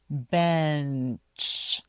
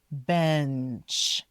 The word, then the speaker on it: bench: So make sure you say that short e b and then be careful. Make sure you say the n bench. Bench.